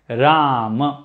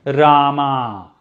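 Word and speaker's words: राम: at the end but it is short shiva ram not shiva not rama okay but but we have a goddess called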